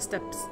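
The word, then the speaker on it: steppes: you guys can tell now it's pronounced the steps I don't say step easy I think that's not right is it it says it should be a short e with the two peas but steps it just sounds wrong if it's steps felt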